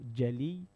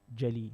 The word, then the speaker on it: jali: So jali, G-A-L-E-E, jali.